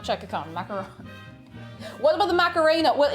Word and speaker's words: macaron: good they're they're pronounced that's a macaroon with two o's a macaron macaron around macaroni this is a macaron i will i i